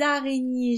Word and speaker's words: araignées: Alors, les araignées, je suis obligée de faire la liaison. Et attention, le E et le S sont muets.